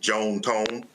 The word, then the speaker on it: John Tom: John Tom is my grandpa. It's his first and middle name, and it's what his family affectionately called him. They were Southern from Mississippi, so they pronounced it Joan Tone.